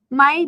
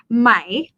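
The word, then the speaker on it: ไหม: version of the particle the question particle is supposed to be pronounced as rising tone my my however in conversation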